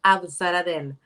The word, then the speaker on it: Abzaradel: your last name okay my last name is ab zaradel is a turkish turkish pronunciation with my accent it's a little bit hard i just try to make a little bit easier for everyone okay and and so